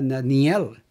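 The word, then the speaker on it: דניאל: es el Profeta Daniel en hebreo se pronuncia Daniel Daniel dice Igualmente que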